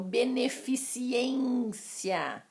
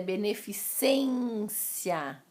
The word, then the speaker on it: beneficência: vocês eu bem as pessoas falam beneficiência o correto é beneficência um outro exemplo clássico